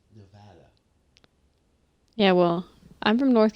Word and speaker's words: Nevada: As I've been scolded, mind you, by the government of Nevada for pronouncing the name of their state incorrectly. It's not Nevada. It's Nevada.